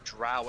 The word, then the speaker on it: Drow: Drought? You mean druid? No, there is a race called Drow. Oh, drow elves.